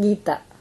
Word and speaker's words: Geetha: How would you pronounce it? My name, Geetha.